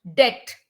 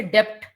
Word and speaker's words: debt: don't say doubt doubt debt we don't say debt settles we don't say